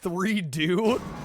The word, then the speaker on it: 3DO: It's pronounced 3-do.